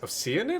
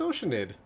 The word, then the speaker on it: Oceanid: Wait, it's pronounced Oanid. I thought it was oceanid cuz it's got the word ocean in it.